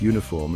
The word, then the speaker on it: uniform: Words like uniform and European might start with a vowel, but they sound like they begin with a consonant Y sound.